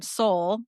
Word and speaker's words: Sol: Sol is how you say your name. So Soul sorry. like the sun.